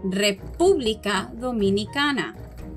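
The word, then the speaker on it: República Dominicana: next to haiti so in spanish however we pronounce it the following way republica dominicana republica dominicana let's practice some more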